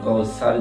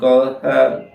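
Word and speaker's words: كوثر: সার যদি কেউ বলে অর্থাৎ সিন হয়ে গেল, কিন্তু ওখানে সিন নেই, সা আছে। এই সাটা উচ্চারণ করতে হবে অবশ্যই।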